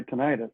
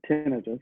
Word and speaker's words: tinnitus: Well, I have something that occurs all day, every day, and that's my tinnitus, or tinnitus, depending how you want to pronounce it, Ah, the ringing in my ears.